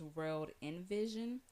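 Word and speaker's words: WRLD INVSN: they short in the names so in the pronunciation is World Invision but how you spell it and if you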